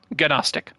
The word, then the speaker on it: Gnostic: And also, reminder, many early sects, agnostic or Gnostic, Gnostic, the second one with the G at the start, silent G at the beginning, Gnostic.